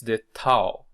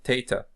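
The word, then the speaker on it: θ: Is the tau, pronounced as our regular T.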